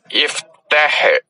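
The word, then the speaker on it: اِفْتَحْ: ഉദാഹരണം, തഫ്തഹു, നീ തുറക്കുന്നു, നീ തുറക്ക് എന്ന് പറയണമെങ്കിൽ ഇഫ്തഹ് എന്നാണ്. തഫ്തഹു അവസാനത്തിന് മുമ്പുള്ള അക്ഷരത്തിന് അകാരമാണ് ത എന്നാണ് പറഞ്ഞ്, അപ്പോൾ ഈ അലിഫിന് ഈ എന്ന് കൊടുക്കണം, ഇഫ്തഹ്.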